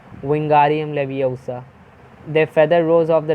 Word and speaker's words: Wingardium Leviosa: Wingardium Leviosa, he shouted, waving his long arms like a windmill. You are saying it wrong, Harry heard Hermione snap. It's Wingardium Leviosa. Make the guard nice and long.